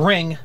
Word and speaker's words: Ringu: And apparently it's just pronounced Ring. Yeah, apparently the U is like, whenever you translate something from Japanese into English, there's like this little noun at the end. Noun? I don't think noun is noun, the word. Yeah. Vow, Daniel. Vow. Okay. And it's more of a guttural sound than an actual ooh.